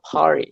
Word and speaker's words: party: Aí isso levou a palavra party, que é festa, né? Party, com esse P assoprado.